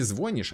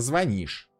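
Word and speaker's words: звони́шь: Говорят правильно говорить не звонишь, а звонишь.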